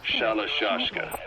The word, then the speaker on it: Shalashashka: By the time I got to hearing about it, pronunciation had wound up as Shalashashka.